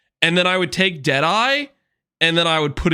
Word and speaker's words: Deadeye: Deadeye rhymes with pie, and pie is good, right?